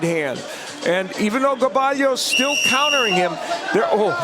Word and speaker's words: Gaballo: Gabayo Gabalio has landed the jab a little bit more. Second one. There's another jab by Gabalio.